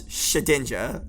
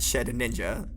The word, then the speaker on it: Shedinja: Fair, Second of all, it's Shedinja, not Shed Ninja.